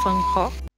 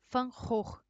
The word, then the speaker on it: Van Gogh: pintor Holandês Van Gogh no Holandês né seria fancó o que um tempinho estudando não faz com a gente né eu já sei que a pronúncia não é assim seria mais fã horror Só corrigindo mesmo e